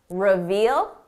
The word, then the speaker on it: reveal: Don't confuse the pronunciation with the very common word reveal. We're talking about revel, revel, reveal, revel. Notice the difference in the vowel sound. This is a short sound, revel. Long sound, reveal.